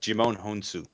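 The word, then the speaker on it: Djimon Hounsou: Played by Jimon Honsu.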